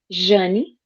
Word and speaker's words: Jane: It's spelled Jane, but it's Yeah, pronounced Janie. So don't be shocked. Um, if I go, hi, this is Janie. that's okay. It's I'll be just like, Jane. oh, she's going incognito. It's just how you pronounce Jane in Portuguese.